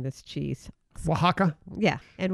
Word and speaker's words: Oaxaca: And I'm not good at pronouncing this cheese. Oaxaca? Yeah. And Oaxaca cheese.